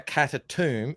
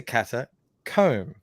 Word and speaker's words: catacomb: me out is like no you say you say comb and the word ends with comb it's not a cat a tomb it's a catacomb comb yeah but let's